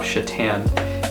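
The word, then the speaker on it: Šatan: all the time and the name Chitan on the back looks like Satan and my teachers would always question me. I would have to say it's Mirlav Chitan is the the way you pronounce that player.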